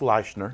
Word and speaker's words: Leichner: Yeah, and it's pronounced Leichner. Leichner, pardon me. He made me promise to correct that.